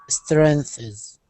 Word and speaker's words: strengths: That last word, strengths. Strengths. Okay, so it's one syllable. Strength. Perfect. It's one syllable. There's a lot of sounds to make in that one syllable, so that can be maybe a difficult word, but it is one syllable.